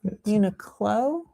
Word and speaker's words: Uniqlo: It's a Q Uniqlo, not a G.